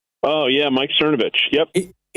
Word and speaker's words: Cernovich: Sernovic. Oh, yeah. Mike Cernovich.